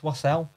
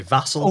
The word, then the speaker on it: Wassel: said my name wrong the guy said wassel and it's not russell it's never been russell it's wassel i say vassal because obviously when my